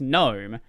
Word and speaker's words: GNOME: Deck, who are like, why is it GNOME? It's pronounced GNOME.